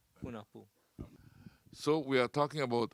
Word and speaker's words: Junajpu: Junajpu, the word Junajpu, actually the J are pronounced as H. Hunahpu means one hunter.